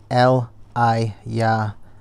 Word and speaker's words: Elijah: The name Elijah has three syllables. L I Yah means God is Yah.